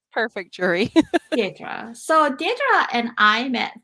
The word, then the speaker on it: Deirdre: So, Deirdre Eldridge, can you pronounce your name? Maybe I'm saying it wrong. No, Deirdre. Perfect, Jury. Deirdre.